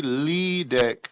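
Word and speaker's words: Liedke: It's well, this is what I tell people because it's a German last name. It's actually Liedek. So what it is the IE makes a long E sound and the E at the end is silent.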